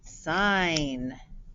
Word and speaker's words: sign: a little tricky here well we know that this digraph the g is silent right but what do you notice about this eye it looks like it could say the short vowel sound it but it is saying the long vowels i sine i think i'm